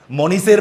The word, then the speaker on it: মনীষ: আমি যদি বাংলায় ভেবে দেখি, মনীষের বাড়ি, নামটা কি বললাম? মনীষ। দেখো লাস্টে উচ্চারণটা কি হচ্ছে? আচ্ছা, মনীষ স্পেলিং কি? MANISH। দেখো এইচ দিয়ে শেষ, কিন্তু সাউন্ডটা কি? হিসিং সাউন্ড, মনীষ স।